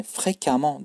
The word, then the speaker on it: fréquemment: Fréquent sık, fréquemment arkadaşlar yani fréquemment diye okunuyor.